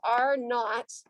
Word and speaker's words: R naught: about something called r naught okay so we pronounce this r naught uh and this stands for uh the reproductive